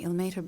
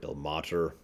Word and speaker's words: Ilmater: Hey, by the way, there's like 3 or 4 different ways they pronounce Ilmater, Ilmater, Ilmater. I say Ilmater because that's the one I hear the most often.